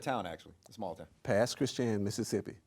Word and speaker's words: Pass Christian: Pass Christian, Mississippi. Say that one more time. Pass Christian, Mississippi. Pass Christian, Mississippi. Right. In the house. It's pronounced Christian. But Christian, yeah, okay.